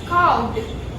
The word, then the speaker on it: carved: Now the next one is carved. C-A-R-V-E-D here. R is silent. Carved.